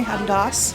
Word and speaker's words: Adidas: Adidas. Adidas. As the British say, Adidas.